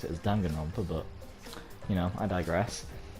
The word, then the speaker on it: Danganronpa: realize that they are inside the world of donggan romper as they pronounce it i still prefer pronounce it as danganronpa but you know i digress danganronpa they are